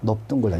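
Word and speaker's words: 넓둥글다: 자, 이 넙은 딱 세 개밖에 없어요. 넙죽하다, 넙적하다, 넙둥글다. 요거 세 개만 비읍으로 발음합니다.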